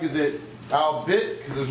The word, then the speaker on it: Albet: He'd be like, I'm not, it's Albet. That's how you say my name. The teacher would be like, it's Albert, not Albet. You can get it right through proper practice and conditioning. You'd be like, I am saying it right, it's Albet, you're just not listening.